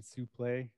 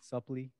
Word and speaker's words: Suplee: and also Ethan fucking Suplee, is that how you pronounce his last name? Suplee? I had to sneeze. Sorry. Suplee, That's good.